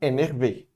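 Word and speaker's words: énervée: Depois a gente tem énervé, o énervé. Esse daqui é outro caso que tem o E no final para o feminino, mas não é pronunciado, ok?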